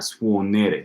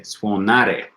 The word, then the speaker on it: suonare: Not suonere, suonare.